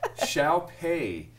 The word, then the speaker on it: Xiaopei: now that you wrote it down for me phonetically but shall pay shall pay he guild and gelb is your